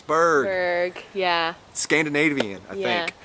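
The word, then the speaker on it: Bourg: Come over to my channel, Berg. That's B-O-U-R-G. Pronounced like iceberg, spelled differently. There you go. Because everyone says Borg. And I'm like, no, it's Berg.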